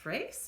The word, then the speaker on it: Fraysse: I would hope it's pronounced Fraisse. It's Fraysse.